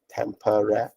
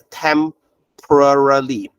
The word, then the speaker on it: temporarily: uh Fanatics hang on yeah temperary oh I gave you the wrong one I'm sorry um can can you can you change can you change to this one okay so it's temporarily temporarily okay the p o r a is one syllable okay I hope you